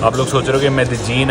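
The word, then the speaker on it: Medellín: लीन है तो ना जो कोलंबन स्पैनिश है उसमें य को या ज बोलते हैं जैसे मेक्सिको में यो बोलेंगे इधर बोलेंगे जो इधर की स्पैनिश में इसे मेद जीन प्रोनाउंस करते हैं।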